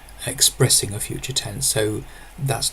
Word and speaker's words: þæt: When it's used as a demonstrative adjective, for example, that book, that river, that song, then it's pronounced that.